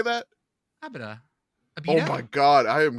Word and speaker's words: Abita: Yeah, it's can Abita. you clarify? Abita. Okay. Abita, okay. not Abida. Abida. Okay. I have been pronouncing it wrong too. Okay, it's a beta.